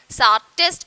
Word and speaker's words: Tsarist: So, in this term actually Tsarist, that is T is silent, so we will pronounce it as Tsarist emperor.